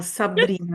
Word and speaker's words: Sabrina: Pronounced in Italian, Sabrina, with a very strong R.